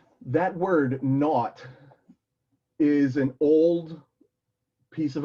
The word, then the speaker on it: naught: we see it okay so um let a naught and by the way that's pronounced that word not is an old piece of vocabulary that pretty